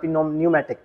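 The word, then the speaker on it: pneumatic: P silent होता है, न्यूमेटिक।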